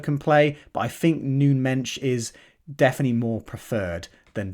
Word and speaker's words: Nuno Mendes: I've got here is Nuno Mendes or noon Mensch as I believe he's is pronounced in Portuguese uh noon bench yeah